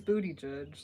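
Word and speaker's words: Buttigieg: he just got a ridiculous his name is Booty judge like I I can't even think of a different way to pronounce it yeah it would be like if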